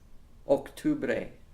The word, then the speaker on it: octubre: Again, similar, but we have to watch the pronunciations there, especially those hard O's in noviembre and octubre.